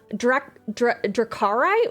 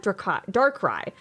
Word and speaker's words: Darkrai: Dracarai? Ooh. That's a cool Pokemon to remember correct. I have a vague idea in my head. Darkrai? Oh, I'm definitely saying Darkrai? Darkrai.